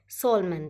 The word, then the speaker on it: solemn: next रहेगा ये है सोलमन, ठीक है, गंभीर है, इसका मतलब स्पेलिंग देख लीजिए SOLMN, ठीक है, क्या है, सोल, ये इसमें थोड़ा एम होता है जो साइलेंट होता है, तो SOLEMN, ठीक है,